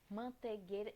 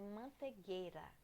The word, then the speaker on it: manteigueira: uma coisa para vocês manteigueira porque manteigueira esse aí não tem não é mantegueira entendeu E até estágio